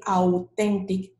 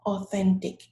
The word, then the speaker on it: authentic: number 20 for example you might feel tempted to say authentic but no it's oh oh authentic okay and you might